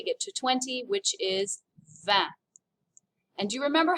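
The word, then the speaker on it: vingt: guess what 19 is d is nuff you remember and then finally we get to 20 which is van and do you remember how the numbers build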